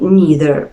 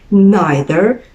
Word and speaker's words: neither: objects or two situations neither nor that's the American pronunciation or you can say neither nor which is the British way of saying this expression would you like to